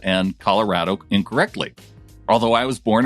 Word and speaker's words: Colorado: after all i've yet to hear anyone say colorada from john well it's colorado yeah and and yeah i think what you